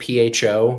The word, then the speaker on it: pho: An example of this would be the Vietnamese word PHO, which is a name for the soup that they enjoy.